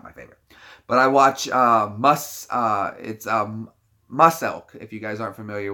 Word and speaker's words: Muselk: But I watch Muselk, if you guys aren't familiar with him. But it's spelled like Muscle K, Muselk, E-L-K, Muselk.